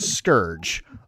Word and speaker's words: Scourge: So if you are into ogre scale figures, his name is, it looks like it should be pronounced Scourge. But knowing the Horseman, it's probably Sissikurgi. I don't know. It is Scourge.